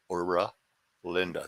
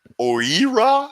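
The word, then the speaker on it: Oera Linda: Ura Linda. That's how I pronounce it. Oira? You could pronounce it that way. I could pronounce it like 40 different ways.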